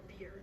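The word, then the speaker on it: Bhaer: Is it pronounced bear or beer, as some people will say it? Something in between the two, as only the Germans can give it.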